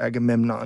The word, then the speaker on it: Agamemnon: a better idea agamenon how should I properly say that by the way agamenon or Agamemnon a agamon okay so you do pronounce it Agamemnon is always getting a